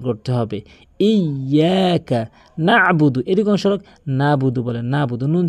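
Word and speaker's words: نَعْبُدُ: উচ্চারণ করতে হবে ইয়াকা নাবুদু এরক নাবুদু বলেন নাবুদ নুন জবর না বা পেশু নাবুদ আইনের উচ্চারণটি বাদ দিয়ে ফেলে এখানে আইনের উচ্চারণ হলকের মাঝখান থেকে নাবুদু এখানে অধিকাংশকাদের উচ্চারণ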